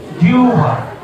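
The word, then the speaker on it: জিহ্বা: দাড়ি দাড়ি খেয়াল হ বহফলা আকার উচ্চারণটা কি হবে জিউবা উচ্চারণটা হবে জিউবা আবার দেখো তোমরা বসো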